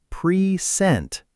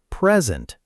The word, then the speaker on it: present: That's an action, so it's present. Stress on the second part. Correct. Sentence two. I still have the blank you gave me last year. That's a thing, a gift, so it's present. Stress on the first part.